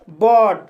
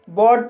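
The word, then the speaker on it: bought: जैसे बॉट, बॉट शब्द में OUGH आया है, इसलिए GH साइलेंट रहेगा और OU का उच्चारण O होगा, इसलिए इसे बॉट पढ़ा जाता है।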